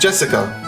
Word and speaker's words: Jessica: You see, it's pronounced Jessica.